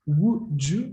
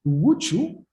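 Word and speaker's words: wḏ: signs in this sequence, wu, ju, wu, means nothing. And then he realized that in the dictionary of ancient Egyptian language, wuchu, this is the way you would read this phonetically, correspond to a word which means commanding or command.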